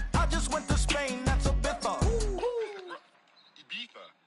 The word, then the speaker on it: Ibiza: I just went to Spain, that's Ibiza. Ibiza. Yeah, it's pronounced Ibiza, actually. What's the difference, man?